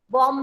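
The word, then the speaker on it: bomb: वाला ई is silent, बॉम्ब में बी is silent, scene में सी इज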